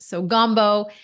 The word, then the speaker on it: Gambault: My husband is French, so that's why my last name is spelt like it is, and you pronounced it beautifully. So Gumbo.